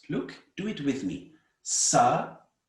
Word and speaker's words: Sarasvatī: what is the meaning of Sarasvati? Before we go to the meaning of Sharada, we must understand the meaning of Sarasvati. There are 3 syllables. Look, do it with me. Sarasvati, 4 syllables.